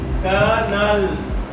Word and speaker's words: colonel: C-O-L-O-N-E-L. If you look at this word, it is colonel. But it is the word is the pronounce is that canal. It's pronounced canal.